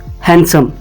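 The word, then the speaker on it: handsome: हैंडसम का यूज करेंगे हैंडसम इसमें डी साइलेंट है इसको हम हैंडसम नहीं प्रोनाउंस करेंगे हैंडसम कहेंगे इसका मतलब भी है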